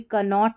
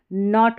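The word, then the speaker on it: knot: अब इसको भी कनॉट नहीं नॉट पढ़ेंगे, जो गांठ लगाते हैं किसी रस्सी में तो उसको इंग्लिश में नॉट बोलते हैं।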